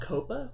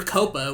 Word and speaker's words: COPPA: It's called COPA.